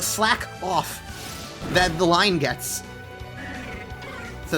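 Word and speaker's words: Slakoth: And so the amount of times I've heard them pronounced slakeoff and slaking is just like, do you not understand that the joke is that they are slacking off? So that's why it's slack off cuz he slacks off.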